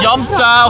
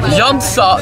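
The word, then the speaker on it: Jämsä: Dit is een parkeerplaats, niet in Menta, maar in Jamta, of hoe spreek je het uit? Jamsa, nou dat.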